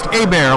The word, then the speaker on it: Hebert: at Carl a beer that is spelled or h-e-b ERT like Hebert let's pronounce a bear like a bear is attacking me so at Kyle